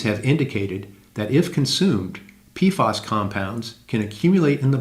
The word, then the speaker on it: PFAS: known as per- and polyfluoroalkyl substances, or PFAS, pronounced PFAS.